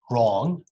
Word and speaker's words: wrong: knight no and similarly when you see wr w is gone you just say right wrong answer answer american answer